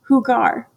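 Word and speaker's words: jugar: to play video games who gar video legos right hugar j-u-g-a-r ends in ar so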